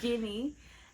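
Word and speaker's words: Ginny: yeah J okay good I said it right jinny um shows a lot of interest in Harry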